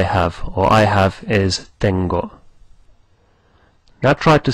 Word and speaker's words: tengo: Now the word for I have is tengo.